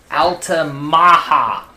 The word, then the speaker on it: Altamaha: Very large named the Ala Maha River that is properly pronounced there.